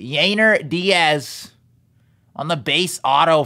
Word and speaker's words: Yainer: Base auto of Yanier Diaz. Or Yainer, I think that's how you say it. Yainer Diaz.